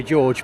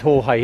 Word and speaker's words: Jorge: the sun jge yes I was going to say George but I remember it's Jorge isn't it got a friend from